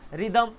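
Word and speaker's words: rhythm: रिदम, जब आप बोलते हो रिदम, तो रिदम में भी एच आता है, वहाँ पर वो साइलेंट होता है क्योंकि उसके पहले आर है, ठीक है ना।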